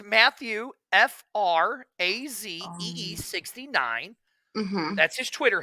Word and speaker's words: Frazee: FRAZEE 69.